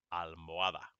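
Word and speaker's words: almohada: elado and this one almoada okay the h is there but you don't pronounce it at the most it's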